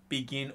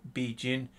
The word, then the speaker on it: BeGin: So tonight I'm doing BeGin or BeGin, depending upon how you want to pronounce it.